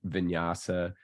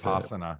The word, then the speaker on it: Vipassana: I didn't do a 10-day vinyasa. Is that how you say it? Vinyasa, Vipassana.